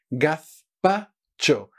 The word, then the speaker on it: gazpacho: hay quemar estas reviews esto se pronuncia gazpacho la fe a la 16 perdiendo la lengua entre los dientes así muy bien muy fácil en